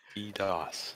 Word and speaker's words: DDoS: DDoS.